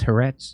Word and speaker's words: Haaretz: And it's pronounced Haaretz.